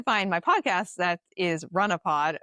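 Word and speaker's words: Runahpod: So maybe uh but um if you'd like to find my podcast that is Runnopod spelled the way that you think it would be pronounced if you're from Massachusetts which is R U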